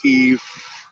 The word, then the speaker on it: Kiev: But yeah, and with him going in, I've heard it pronounced Kiev. I've heard it pronounced Kiev.